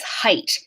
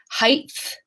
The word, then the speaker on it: height: unreleased T here and the last one is height now some people say Heights by accident because look th th th whoops